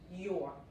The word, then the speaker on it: your: Es como si esta U no existiera, ¿ok? Es igual que la palabra or con la E enfrente. Porque tienen la R inglesa, tienen un consejo rápido aquí, your, ¿ok? Una sola sílaba, your.